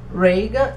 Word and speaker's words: Regan: Eu falo Regan porque se escreve Regan, mas eu decidi falar com a pronúncia mais americana, que eu acho que fica menos feio do que Regan.